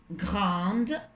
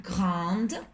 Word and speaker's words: grande: Marie est plus grande que Patricia. Cuidado también añadir bien la E para marcar el femenino al adjetivo grande. Pronunciar bien la D, en ese caso, como es femenino. Marie est plus grande que Patricia.